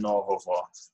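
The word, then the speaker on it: нового: And the same case if you have an animate noun, then you're going to have again novovo, novovo. And it's pronounced vo, it's not go.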